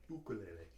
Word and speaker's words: ukulele: That's how they pronounce it in Hawaii, ukulele.